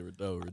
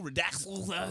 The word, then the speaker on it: Rideaux: But they probably don't even know how to say his name. You know what I'm saying? We got Bino Rideaux in the house. Yeah, Rideaux. I see a lot of people have been saying Rideaux, Redaxel.